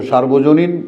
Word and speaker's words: সর্বজনীন: তাহলে তোমার পড়া তো সর্বজনীন সার্বজনীন না। এখন আমরা অনেকেই কিন্তু উচ্চারণ করি সার্বজনীন। এটা ভুল।